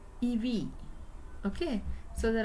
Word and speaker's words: EWI: And since, see, EW is usually pronounced in musical field, EV.